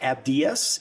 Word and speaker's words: Abdias: I know the pronunciation is going to going to throw people off, so I'm going to go straight to an English pronunciation. So Abdias Abd I A S Nasiman N A S